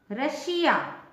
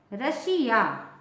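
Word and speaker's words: Russia: से देखिए और समझिए यदि किसी वर्ड में एस या डबल एस के बाद आई ओ एन या आई ए हो तो एस का उच्चारण श होता है ठीक है श फॉर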